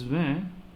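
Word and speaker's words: vingt: So in this van, this G and T will not be pronounced. Instead, we will pronounce only V-I-N. V-E-V-N, van. Okay, G and T silent.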